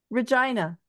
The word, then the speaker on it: Regina: it's called wait wait Regina Gina is that it yeah that's it RH rhymes with vagina yeah vagina it's spelled